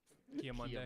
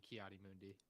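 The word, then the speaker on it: Ki-Adi-Mundi: But Kia Monday. Monday is crazy. Yeah, he like did not pronounce that right whatsoever. Let's go back. Let's talk about. I always the thought it was minifigure. Kiadi Mundi, First no? with- It's got to be Kiadi Mundi.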